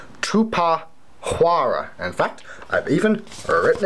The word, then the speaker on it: Tupuxuara: you are having a very hard time to pronounce so I will say it for you it is called Koopa Hara say it again - PAH Quorra in fact I've even written it down alright